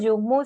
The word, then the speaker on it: Yuhmu: Bueno, y les recordamos, Yumu se escribe Y-U-H-M-U, para quienes tuvieran la duda.